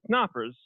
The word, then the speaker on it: Knoppers: His name is David Knoppers, and the K is pronounced like Knuth.